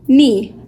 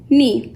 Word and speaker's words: knee: the rest of the letters so yeah mmm nee nee this word is me now you may ask